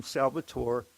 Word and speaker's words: Salvatore: call me Salvatore but they tend to confuse me with the Latino element which is pronounced Salvador with a d I'm Salvatore and uh but I